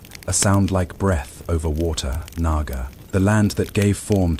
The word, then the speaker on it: Naga: When the sacred order is violated in Sanskrit, the name is pronounced with a soft aspiration at the beginning. A soundlike breath over water. Naga.